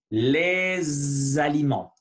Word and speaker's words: les aliments: Donc, pour commencer, on va répéter les aliments. Faites attention à la prononciation de le S. Les aliments. Il faut vibrer le son S, Z, S, Z. C'est différent. Et les aliments. Voilà, les aliments.